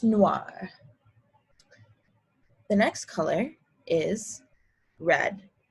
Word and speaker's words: noir: noir go ahead and try that again it's noir the next color is red and the french